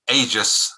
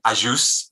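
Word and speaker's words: Agius: So we've always been Aegis rather than Ajus in England, and I'll say Muscat rather than Muscar, and Samut rather than Samut.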